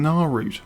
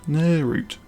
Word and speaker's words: Nirnroot: I keep forgetting how it's pronounced, because I keep calling it Naarut. Nirnroot. Got to remember that.